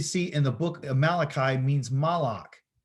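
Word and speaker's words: מלאך: The same name that you can see in the book of Malachi means Malach. The M, the L, and the K. They got a CH there, but it's really a K.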